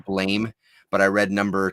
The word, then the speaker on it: Blame: I read the next volume of Blam, apparently is how you pronounce it, but I'm going to say Blame.